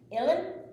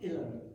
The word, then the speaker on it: Uilleann: Uilleann? Uilleann. U-I-L-E-A-N-N. Say it again. Spell it again, please. U-I-L-E-A-N-N. Pronounced Uilleann.